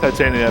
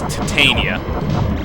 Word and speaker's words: Titania: but Titania basically is the pronunciation right. It's titania. If you're talking about the if you're talking about the metallic alloy, it is titania as in titanium. Titania is the name of the the fairy queen.